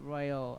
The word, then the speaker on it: Rawal: That's Ricardo Royal, okay, guys? But it's spelled RAWAL.